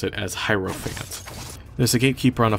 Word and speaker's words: Hierophant: thinking about it I'll try my best to pronounce it as hyro Fant there's a gatekeeper on a floor not far